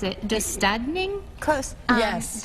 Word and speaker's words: Döstädning: It's called, let me see if I can pronounce it, Döstädning? Close. Yes. Döstädning, and that is Swedish death cleaning.